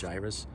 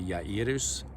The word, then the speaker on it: Jairus: Usually it's pronounced Jairus. Maybe more in Hebrew it'd be Yairus, but it says that.